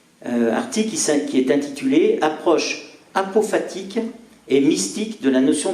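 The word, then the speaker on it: apophatique: la personne humaine alors un pot fatigue ça s'écrit a P o P H a t I Q u e apopatique il faut préciser qu'une démarche dite à prophète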